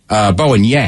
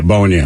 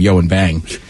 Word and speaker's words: Bowen Yang: Bowen Yang. Yeah, Bowen Yang. I always called him Yo and Bang.